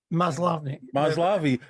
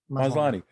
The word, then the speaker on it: Maslany: Maslavi should play her. Maslany.